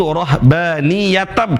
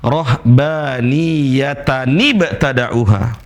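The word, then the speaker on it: رهبانية ابتدعوها: Dan sebagian teman-teman cara baca yang salah, yaitu rohbaniyatab cara bacanya. Padahal bukan, rohbaniyatani ba'tada'uha.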